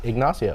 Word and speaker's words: Ignacio: pronounced it right. Ignacio.